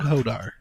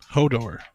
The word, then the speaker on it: Hodor: Richard, and his dog, Hodar. Hodar. Yep. Interesting name for a dog. Hodor. Maybe it was Door. Yeah, I think it I think I said it wrong.